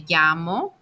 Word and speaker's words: llamo: Double L is more like a Y, so you say me llamo for telling your name.